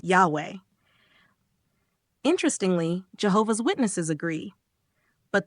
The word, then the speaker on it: Yahweh: But let's be clear, Jehovah is not the original pronunciation of the tetra grammaton. In fact, it's not even a good transliteration. It's a mashup, a misunderstanding of the Maserit system, which was designed to prevent people from pronouncing the divine name. Today, most scholars agree that the closest approximation we have is Yahweh.